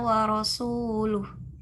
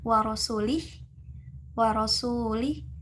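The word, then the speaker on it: ورسولُه: Nah, di sana ayat sesuai di dalam Al-Quran bunyinya Annallaha bari'um minal musyrikina wa rasuluh. Ketika kita membacanya wa rasulih, maka artinya pun jadi berbeda. Nah, jadi kalau yang tadi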